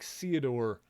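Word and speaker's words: Ceodore: for theodor's sake okay why do I feel like codor probably should have been romanized as Theodore because my little bit of knowledge is would be that um for like the th sound at the beginning of a word in Japanese they would um generally write that as more of an S sound which is why um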